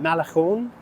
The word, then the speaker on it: Malecón: This is the Havana Malecón, I think is how it's pronounced, and it's just this